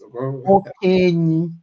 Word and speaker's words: Okenyi: Okay, did I pronounce it? Okenyi.